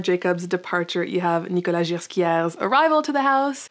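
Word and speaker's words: Ghesquière: departure you have nicolas quiere's arrival to the house by the way i pronounced it gerschia for like the whole time just now it's smooth j everyone just fyi so nikolai didn't only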